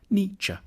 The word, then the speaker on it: Nietzsche: The first bit should sound like ni, the second like cha, Nietzsche.